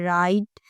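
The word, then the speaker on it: write: Guitar guard उसके अलावा जो डब्ल्यू है वो हमेशा हम उसे प्रोनाउंस नहीं करते। वो साइलेंट रहता है। अगर वो आर से पहले आए या फिर वर्ड्स के स्टार्ट पे आए जैसे कि राइट रॉन्ग हु।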